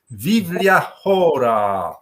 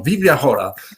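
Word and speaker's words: Biblia Chora: Do I pronounce it well? Vivlia? Yes, perfect. Vivlia? Yeah. Yeah, this is. I have to thank to Adam Drozdowski, my friend, who taught me the Greek pronunciation.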